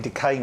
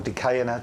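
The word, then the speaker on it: De Caen: These are the anemone decane, or decaena, depends how you say it.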